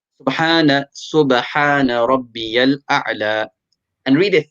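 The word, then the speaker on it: سبحان ربي الأعلى: Remember, take out the ha properly and a'la, the ain as well. You want to pronounce this as best as you can. Subhana Rabbiyal A'la.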